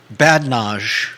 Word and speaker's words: badinage: You don't pronounce the I.